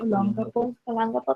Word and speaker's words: Olongapo: Okay, she was an Olongapo. Can someone help me pronounce that right? Olongapo, thank you.